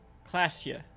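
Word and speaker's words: Klaasje: Those aren't the flowers that were left for Classia.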